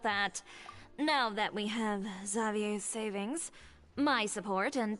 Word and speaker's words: Xavier: believe his name is pronounced Xavier.